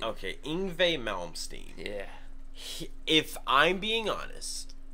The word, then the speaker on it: Yngwie Malmsteen: All I'm gonna say is, please pronounce this guy's name for me. Yngwie Malmsteen. Okay, Yngwie Malmsteen.